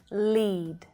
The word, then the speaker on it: lead: verb to lead right lead and you really need to try and make that long vowel sound there e e make that sound too short it'll sound like lid now there are quite